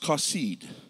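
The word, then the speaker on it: חָסִיד: It's pronounced kasid.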